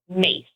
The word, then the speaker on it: Myss: Are you familiar with the work of Caroline Myss? No. Oh, goodness. This woman, last book? name is spelled M-Y-S-S, pronounced mace, like the herb, M-A-C-E. Got her.